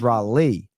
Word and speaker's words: Raleigh: It is Raleigh just like Lee.